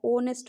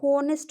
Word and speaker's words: honest: है ओ से पहले एच को हटा दीजिए और ONEST क्या हुआ, ओनेस्ट हो गया। ठीक है, अगर एच से हम करते हैं तो यहाँ होनेस्ट हो जाता है, जो कि बहुत ही रॉन्ग प्रोनाउंसिएशन, इसका कोई वर्ड में नहीं है।